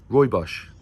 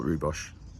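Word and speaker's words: Rooibos: Well, Roy Bos, not Rhubos. I'm almost mispronouncing it.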